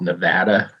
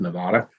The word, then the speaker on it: Nevada: than the fact that it's pronounced Nevada not Nevada if you knew I